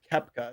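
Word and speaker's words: Koepka: the show I wanted to say uh Brooks kepka is how you say his name I I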